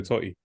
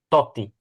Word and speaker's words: Totti: I think it's just 2 words with Roma: Francesco Totti. That's literally it. But please, mate, pronounce the double T. Oh my days, that's crazy. Surname. Totti. Totti.